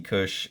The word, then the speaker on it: KUS: Magazine number 49, and I think this is just pronounced Kush. I'm not I'm not sure what it is.